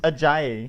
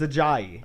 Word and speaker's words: Ajayi: Well, no, Because we just got Ajayi, so we're not going to get rid of him. First of all, it's pronounced. It's Ajayi. It's Ajayi.